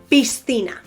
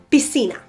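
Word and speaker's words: piscina: c or a zet let's take for example the word pistina swimming pool peace that's how I would say it in standard Spanish with the distinction between the C the S you know however a person from this self or a person from the canary alas would say bisina pisina all as if it was an s that c becomes an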